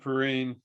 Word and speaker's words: Perine: Nathan, I give it to him and Perine. Or is that how you say it? Yeah, Samaje Perine.